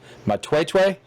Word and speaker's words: Matwetwe: But get back to your outfitting business there, and correct me if I'm wrong, but it's pronounced Matwetwe.